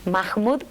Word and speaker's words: Mahmud: pronuncia correctamente el apellido mahmud porque es ascendencia árabe así que la h se produce como jota pero en realidad nadie